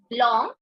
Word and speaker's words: blanc: end BL for the feminine you have to pronounce it as blond sure sound should come at BL for masculine it's blong first sound for feminine it's BL sh so